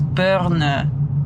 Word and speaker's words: Boerne: a German name and I swear that the E would be silent if he pronounced it in German but I don't know